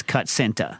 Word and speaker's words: Kutsinta: it looks like it says Kutsinta. Yes, you're not wrong. Yeah, but Kachinta sounds cooler.